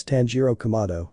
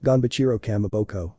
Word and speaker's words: Tanjiro Kamado: "Tanjiro, I'm not useless, my name is Tanjiro Kamado," he would say with noticeable anger. "Zenitsu, well, Ganbachiro Kamaboko, I'll defeat you," he said, making Tanjiro even angrier because he mispronounced his name.